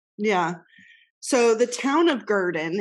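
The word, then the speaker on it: Gurdon: four yes yes oh boy it's ready the garden light never heard of it I'm excited I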